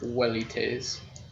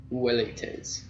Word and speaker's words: velites: Kaiser with a K, and W's, or V's as in velites, would have actually been like a U sound, or a W, so it would have been like velites, because they didn't make the V sound.